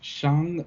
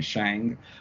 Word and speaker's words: Shang-Chi: name as well, because I've definitely been saying Shang for the longest time. They told us, hey, that is not how you say it. Okay, it is Shang-Chi, and I was like, you got it.